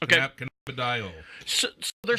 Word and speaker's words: cannabidiol: Cannabidiol. I think that's how it's pronounced. Okay. Cannabidiol.